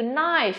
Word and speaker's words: knife: Xin sang từ cuối của chúng ta, từ này là từ knife.